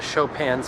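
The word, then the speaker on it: Chopin: Anyways, I'm going to Shopan's museum right now.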